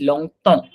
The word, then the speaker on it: longtemps: It's long tong. Tong. I don't hear a P at all. लॉन्ग So term it's not long tong.